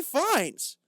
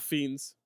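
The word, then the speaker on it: Fiennes: two different people Bron this is not Ray findes I I how you pronounce I'm looking at Ray F the actor who was in the Kings man the menu nope that's Ralph fiends sorry you're looking at a different guy too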